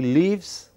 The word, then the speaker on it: live: Some vowels are very short, live, and the others are very long, leave.